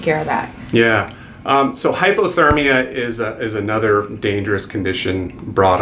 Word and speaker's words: hypothermia: And that brings us to our next subject, hyperthermia. Or hypothermia. Hypo, I'm saying, okay. I said it wrong. Hyper is too hot, hypo is too cold. So it's important to get that term right.